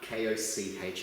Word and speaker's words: Koch: It's an unfortunate name, I get it, but K-O-C-H is pronounced Koch.